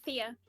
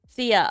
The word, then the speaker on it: Thea: totally forgot to ask how do you say your name before uh Thea Thea okay so I was saying it right in my head I just didn't want